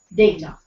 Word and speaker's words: data: iron it's iron wow data or data well the correct pronunciation is data W wedes day it's